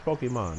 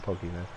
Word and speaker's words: Pokémon: too or Pokemon or p is it Pokemon it's Pokemon yeah I not Pokey man they're probably doing okay